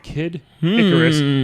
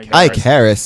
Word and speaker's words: Kid Icarus: go first Mario and Kid Icarus or some back in elementary scho kid I Caris used to call him it's not kidis it's kidicarus this person sounds like